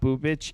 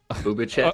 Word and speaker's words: Bubic: You're actually pronouncing that wrong. It's not Bubic. It's Bubic.